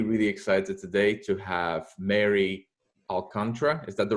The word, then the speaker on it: Alcantara: And I'm really, really excited today to have Mary Alcantara.